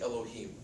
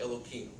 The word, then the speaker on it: Elohim: a service or prayer, you could say Elohim, one of the names of God. But if I'm just talking to you in conversation right now, it's like Elohim. They purposely mispronounce it.